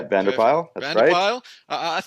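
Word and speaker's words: Patrick van der Pijl: get this pronunciation correct patrick vande appeal is that right yeah Bandar pile I'm just trying to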